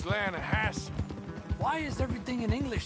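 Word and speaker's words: Lannahechee: The other day, I rode down to the Lanahatchee River. I caught some beautiful steelhead trout. You mean the Lanahassee River? No. The Lanahatchee. It runs right near here. Yeah, but it's pronounced Lanahassee.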